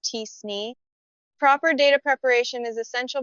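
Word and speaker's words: t-SNE: Also, if the relationships in your data are highly nonlinear, you might want to consider alternatives like kernel PCA or TSN, which is pronounced tsne.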